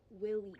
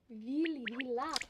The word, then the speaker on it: vila: In the ballet, people call the ghosts willies. It's just a really bad pronunciation of the Slavic word vila.